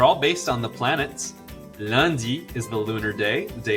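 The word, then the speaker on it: lundi: here's the good news the days have no silent letters in french and they are always lowercase so they're easy to say and they're easy to spell listen closely landi mardi mercedes fun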